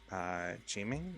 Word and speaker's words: Gaming: Though apparently in Cantonese, it's supposed to be closer to Jiming or something like that.